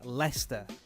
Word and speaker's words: Leicester: And by the way, for non-English people, that word is pronounced Leicester.